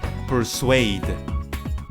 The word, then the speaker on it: persuaded: invited invited in final and the last one persuaded excellent persuaded persuaded her swing so these